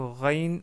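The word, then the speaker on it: غ: que vous l'avez deviné la lettre rain ressemble si ce n'est pas exactement la même chose à la lettre R en français et on veut dire par là le r tel qu'il est prononcé à Paris non pas comme c'est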